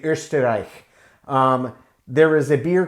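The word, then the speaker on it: Österreich: eggenberg out of austria or as they would say ursterich there is a beer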